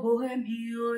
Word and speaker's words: bohemio: Bohemio también nos regala otra H intercalada, pero en este caso sí que se dan dos sílabas, hay un hiato, ya sabéis que la O, la E no se juntan, son dos sílabas separadas.